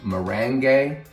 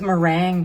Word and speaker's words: merengue: She is our mango merengue. I think we're probably pronouncing that right this time. Mango merengue. I know, I thought it was meringue, but it's forget about it. Merengue.